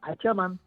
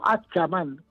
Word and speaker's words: Achamán: Por lo tanto, como siempre, y en eso están todos los autores de acuerdo, en que Achamán, tal como suena, Achamán, o Achamán, con T o con CH, siempre está vinculado al cielo.